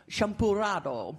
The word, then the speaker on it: champurrado: The Spanish still do this today, and people will call it Spanish hot chocolate or champurrado. You're supposed to roll your R.